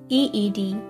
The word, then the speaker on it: Yde: Breanna's last name is pronounced as EED.